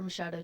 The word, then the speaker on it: Machado: Wrestling for the championship at 103, he'll wear the red ankle band for Oakland High School, Machado. My name's Mashado. Spell it for us.